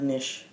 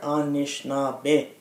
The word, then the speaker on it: Anishinaabe: My five-year-old reminded my older son, we're not Nish. You have to say the word properly. We are Anishinaabe. Nice. And each syllable means something and talks about who we are.